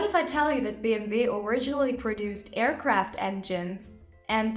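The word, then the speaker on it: BMW: be b m and what do we say about that last letter that's right it's pronounced V so we have b m v which is short for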